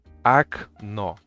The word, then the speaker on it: окно: We have an example here. Окно. Окно. Because the second O is under stress and the first O is not under stress, the first O is A.